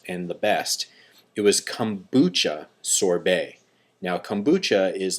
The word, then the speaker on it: Kombucha: How do you pronounce it? Kombucha. Kombucha.